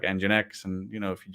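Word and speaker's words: nginx: you can just deploy to your cluster like engine X and you know if you just it's fine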